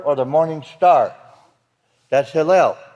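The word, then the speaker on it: הילל: That's Hillel. It has nothing to do with Hallelujah, Yahweh, or Halal, or anything else. It's Hillel. It is spelled, as you'll notice, Hey, Yod, Lamed, Lamed.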